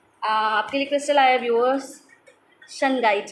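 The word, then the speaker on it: Shungite: बाहर आने में आपके लिए क्रस्टल आया वस सन गाइड का ठीक है स्पेलिंग है इसकी एस एच यू एन जी आईटी सन गाइ य ब्लैक कलर का क्रिस्टल है सन guide S एच यू एन जी आई टीट ठीक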